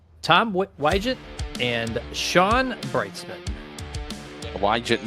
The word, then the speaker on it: Wygett: Wygett, remember we said, the I is silent, or the G is silent.